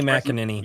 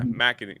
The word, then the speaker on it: McEnany: Kaylee McEnany. Yeah. McEnany.